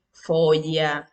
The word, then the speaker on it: foglia: Grupos formados de dos letras, GL más una vocal que es la I. Se pronuncia como si en español pronunciaras la doble L, sonido suave. Egli, foglia, excepto negligenza, glicine o glicerina.